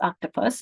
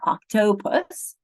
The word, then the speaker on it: octopus: The same thing with octopus. It's octopus, it's not octopus.